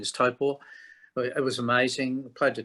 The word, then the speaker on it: Taupo: but we did um Topo which people call taupo but it's to correct pronunciation is typo it was amazing applied to 20 000 people